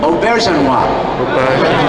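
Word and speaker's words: Auberjonois: Aubergenois. Because I've heard some delightful pronunciations of his accent.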